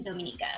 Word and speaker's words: Dominica: so as i mentioned it's not the dominican republic it is yes correct pronounce dominica and then to avoid